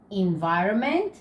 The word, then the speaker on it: environment: rubbish, pollution, recycle, environment. So, as you see, guys, we write the N, but we don't pronounce it.